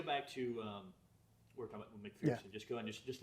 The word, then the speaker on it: McPherson: Actually, McPherson. There's no fear in McPherson, if you want to make sure you pronounce his name correctly.